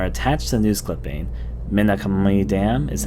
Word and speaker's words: Minakami: Minakami Dam is how they say it in Japanese.